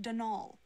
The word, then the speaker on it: Donal: that was the caretaker Daniel Delaney not Donald mind you there's no D at the end so it's pronounced denal that's the way you're